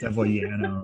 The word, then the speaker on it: Deviliano: Everyone pronounces it in America with like Y. It's Deviliano. I'm like, no, it's Italian.